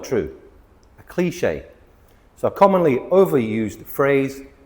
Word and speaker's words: cliché: Cliché. Cliché. 2 syllables.